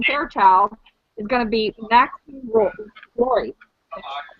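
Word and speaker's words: Maxim Roy: And then the one who's going to play her mother, Jocelyn Fairchild, is going to be Maxine Rory.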